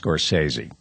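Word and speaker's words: Scorsese: long and here's the thing about scorsi it's pronounced scorsi here's the other thing about scor scores his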